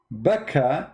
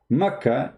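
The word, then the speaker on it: Bakkah: answer is very simple becca is how it is pronounced for some people makkah it's how it's pronounced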